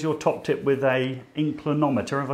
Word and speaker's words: inclinometer: There's your top tip with a inclinometer.